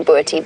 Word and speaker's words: Boertie: like to know, or Boatie, I'm not actually entirely sure how your name is pronounced. Please let me know. I think it's... apparently it is Boertie. It is definitely Boertie.